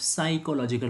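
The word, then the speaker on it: psychological: मतलब ये P sound पूरा डिलीट हो जाता है, एलिमिनेट हो जाता है। स्पेलिंग का टाइम में पी लिखाता है, लेकिन साउंड का टाइम में प साउंड आता ही नहीं है।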